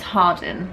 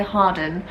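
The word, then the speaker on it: Hardin: r d i n it's different when Americans say it as opposed to like UK British people so I just say Harden I don't know that's just how they say it in the trailer you just follow her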